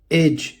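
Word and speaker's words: edge: डी, जी से पहले डी आता है तो साइलेंट होता है। एग्जाम्पल देखिए, एज किनारा, ब्रिज पुल, बजट।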